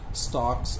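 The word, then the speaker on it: stalks: ही स्टॉक्स, अब ये स्टॉक्स, अब एल जिसके अंदर साइलेंट है, तो ही स्टॉक्स इन his vivid strips.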